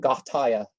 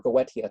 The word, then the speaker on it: Goetia: It's not pronounced Goetia, but Gothia, to give it a Greek pronunciation, or Goetia, to give it a Latin pronunciation.